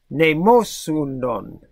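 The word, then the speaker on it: μνημόσυνον: And it is pronounced mnemosynon.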